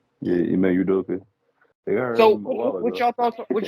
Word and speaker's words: Ime Udoka: Yeah, Ime Udoka.